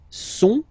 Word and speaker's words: sont: il, plural form, okay, ils sont, final T not pronounced, ils sont, elles sont, okay, ils sont, elles sont.